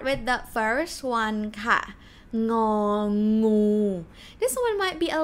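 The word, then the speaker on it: งองู: It's ng sound and g sound. Think about the word king. King, a king, like speak a little bit like British, king, a king, ng.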